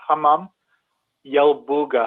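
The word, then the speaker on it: Hammam Yalbugha: We traced it to the Hamam Yelbuga. I'll spell it.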